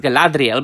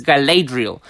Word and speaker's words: Galadriel: Gallade real based on of course it should be pronounced Galadriel but this is Amazon's version so it's Galadriel based on promotional photos